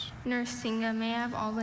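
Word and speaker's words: narsinga: which perhaps formed it from Sanskrit words a nuringa is a curved metal trumpet used throughout India.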